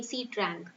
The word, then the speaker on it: Sitrang: So first of all, let's remember for prelims who gave this name Sitrang. This is not pronounced as Sitrang, it is Sitrang.